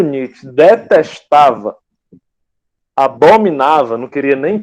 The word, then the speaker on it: Nietzsche: Passando aqui, gente, para o nosso filósofo alemão, nosso filósofo alemão do bigode grande, repetindo que esse monte de letra aqui a gente pronuncia só Friedrich Nietzsche, Friedrich Nietzsche, N-I-T-I, beleza?